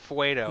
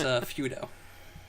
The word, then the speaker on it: Feudo: And is your last name pronounced Fuedo? Negative, Ghost Rider. Well, Corbin got it wrong again. It's Feudo. Yeah, because feud is a word, and then you put an O on the end of it.